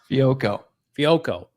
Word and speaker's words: Fehoko: Simi Fehoko. Is that how you pronounce his name? Fehoko.